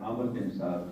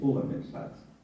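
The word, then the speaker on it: Umar ibn Sa'd: His name, the real pronunciation of his name is not Amr bin Saad, it's Umar bin Saad.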